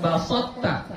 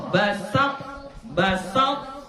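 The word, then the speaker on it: بسطت: Coba. Jangan baso. bukan basotta, basa. Basa baru masuk ke to. Basat, basat. Ya, jadi bukan basot. Berbeda basot dengan basa.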